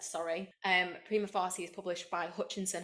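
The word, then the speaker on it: Prima Facie: to say this word prima fary is that how you say it primy okay I'd say prima fasy Prima fasy so this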